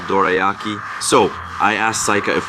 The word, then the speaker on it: dorayaki: She told me it's not dorayaki, it's dorayaki.